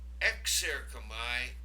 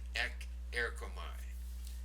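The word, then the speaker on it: ἐξέρχομαι: Now you'll notice the kappa changed to a xi, and that's simply because it's easier to pronounce as one word, exerchomai, instead of stopping and starting, ek-erchomai. So exerchomai, that sigma sound is thrown in there just to facilitate pronunciation. So for prepositions, they work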